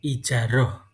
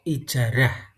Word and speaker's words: ijarah: Demikian tadi materi yang dapat saya sampaikan, materi tentang ijaroh atau ijarah. Dalam pelafalannya boleh menggunakan ijaroh atau ijarah.